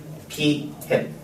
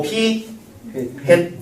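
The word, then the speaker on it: p̂: 저 모자 비슷하게 생겼기 때문에 햇이라고 읽을 겁니다. p 햇. 됐나? 많이 쓰는 표현이 많이 쓰는 게 아니고 정해진 표현이니까 요건 알아야 돼. 자, 읽을 때 뭐라고 읽고? p 햇 의미는 표본 비율이란 뜻이고 n분의 x란 뜻입니다.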